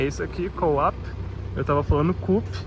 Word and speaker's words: Coop: Tá, um dos supermercados que a gente tem comprado coisas para economizar é esse aqui, Co-op. Eu tava falando Coop, mas a Rachel me corrigiu. Co-op. Co-op in English.